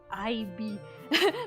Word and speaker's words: Ib: Oh, I think it's if you mean Ib, I think it's written as IB. But yeah, it's pronounced like Ib.